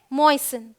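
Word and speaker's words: moisten: यहाँ पे एस टी है, ये है फासन, टी साइलेंट है। ये है ग्लिसन, ये क्या है, लिसन, ये क्या है, मॉइसन।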